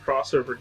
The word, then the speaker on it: X Over: from another mega man crossover game uh literally called rockman uh crossover although it's spelled x over um hence the